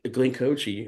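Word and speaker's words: Glenn Kotche: or with whoever you know that you know Glen coochi that's how you pronounce his name but he was there and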